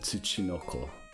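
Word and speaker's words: ツチノコ: By the way, I looked up how to pronounce it. It's Dokebi and Tsuchinoko.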